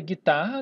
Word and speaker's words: guitarra: O GU pode ser guitarra, né? O gui, tarra. Note que eu não pronuncio o U.